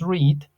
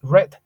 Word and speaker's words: read: entonces podemos decir que en presente decimos read en pasado decimos red como el color rojo prácticamente W Go su